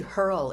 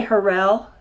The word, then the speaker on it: Hurrell: And it's actually Hurl, isn't it? I say Hurrell. Okay. It's just easier to pronounce.